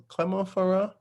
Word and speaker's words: Clermont-Ferrand: So I think Air France, they have like, is it Clermont-Ferrand?